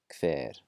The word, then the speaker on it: hver: There are some parts of Iceland that will pronounce it slightly differently, but mainstream Icelandic just KV sound, hvað, hver, and hvor.